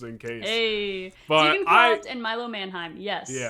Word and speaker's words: Milo Manheim: Milo Manheim. Yeah. Yeah. Mannheim. I forgot I had the pronunciation up on Google just in case. Tegan Croft and Milo Mannheim.